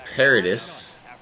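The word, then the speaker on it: Paredes: 6 getting strikeouts love to see it isaac paradis that's how you pronounce it he's going to go up the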